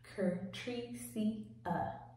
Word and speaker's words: Curtricia: For those who do not know me, it's pronounced Curtricia.